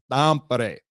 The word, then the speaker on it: Tampere: which is spelled Tampere, which could be Tampere. Yep. But one of Roope's family members came up to me and he goes, Jeff, do you want to say it correctly? I said, of course I do. He said, all right, well, you need to say Tampere.